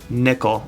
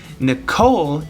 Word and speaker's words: Nichol: about the way that I pronounce Nikol okay Nicole is a girl's name and I know Nikol looks like a trap but he is not a girl so I'm calling him Nikol alright alright moving right